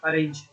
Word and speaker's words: arange: इसका स्पेलिंग है ARANGE, अरेंज।